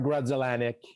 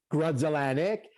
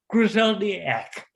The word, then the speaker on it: Grudzielanek: pas capable de prononcer, parce que c'est sûr que si tu lis Grudzielanek, c'est pas nécessairement de la même manière que ça se prononce. Alors ça, c'était... Yes, he would call it Griseldiak.